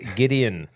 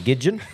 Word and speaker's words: Gideon: so His name funny. is Gideon. I called him Gidgeon.